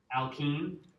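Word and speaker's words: alkyne: Do you know a lot of people get tripped up on how to say this? So I want you guys to say it with me. Alan. Alkine. Aline. Alkine. Aline. You hear that I in the alkine.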